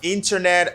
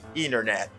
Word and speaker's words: internet: the reason is because the t is often silent in american pronunciation instead of saying internet americans will frequently say internet that's great internet that's